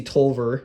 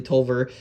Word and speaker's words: Taliaferro: and you can see tolver now I'm saying it correctly tolver coming off the hill